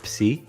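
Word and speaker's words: Ψ: La letra siguiente es la letra Psi, que se pronuncia como la combinación de P y S, como por ejemplo en la palabra psicólogos, que significa psicólogo.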